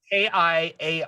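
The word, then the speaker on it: Kiaransalee: It's Kiaransale, like Kira and Sully is how I've been pronouncing Kira and Sully.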